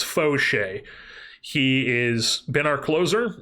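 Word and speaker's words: Faucher: It's Foch. It's not Fche, it's Foch.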